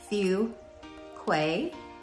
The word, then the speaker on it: Fuquay: bit to say it just remember a few things few Quay kind of like K fqu Verina you'll